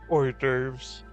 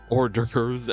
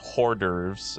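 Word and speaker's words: hors d'oeuvres: Horves. Orderves. At the mommy's wedding. Yeah, they're pronounced hoorderves at her wedding.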